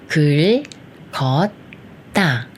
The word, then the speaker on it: 긁었다: 극다음에 이렇게 이응이 오면 첫 글자는 그의 리을 받침만 붙여서 글이라고 읽고 처음에 쓰는 이응이 소리가 없으니까 이응과 가까운 기억이 이응 자리로 올라가서 첫 소리가 되니까 그 소리가 되면서 겉이라고 읽고 마지막 글자는 다가 합쳐져서 따가 돼요. 그래서 글 걷다.